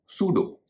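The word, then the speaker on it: pseudo: नहीं हो रहा है एक और शब्द है सूडो जिसे सूडो भी कहते हैं इसमें भी एस से पहले प आ रहा है और प कारण नहीं हो रहा है साइको और सूडो साइको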